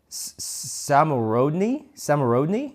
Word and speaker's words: Szamorodni: Oh yeah, they have something called Samorodny. It's spelled Szamorodni.